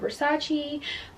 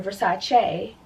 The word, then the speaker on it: Versace: was Michael Kors acquired Versace I'm sorry Versace a cuz that's how it's pronounced where's that you know